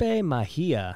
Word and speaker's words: Mejia: Today, I've got Mejia. Did I say that right? You said it right. All right, good. He was telling me everyone calls him Mejia.